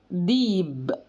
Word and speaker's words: ذئب: المصريين ذكي ذكي ذكي وذئب بينطقها المصريين ديب ديب حرف الظاء بينطق